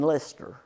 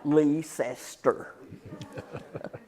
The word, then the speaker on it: Leicester: Now, some of you may pronounce it by the British pronunciation, Leicester. But when I was growing up, there's 3 syllables in that word, and we pronounced it Leicester.